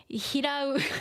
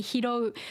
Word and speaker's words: 拾う: And people living in Kyushu, they will say hirau instead. It's supposed to be hirou.